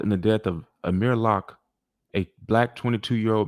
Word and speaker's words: Locke: young man's last name look like it's pronounced lock but my apologies if i'm not correct on that let's take a look